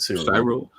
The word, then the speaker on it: Cyril: Yeah, that's how I've heard it, Cyril.